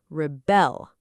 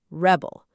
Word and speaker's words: rebel: So, the stress is on the second syllable, rebel, not rebel. She will rebel against the rules. But if you say, "He is a rebel," now it's a noun, stress on the first syllable, rebel.